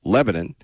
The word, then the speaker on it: Lebanon: to Israel, and it comes down to Lebanon, or as they pronounce it in the South, Lebanon, and whether or not